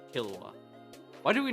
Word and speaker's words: Killua: you used to say Killua, why do we not talk about that? Just because I said it wrong really badly. I think I said Kahlua.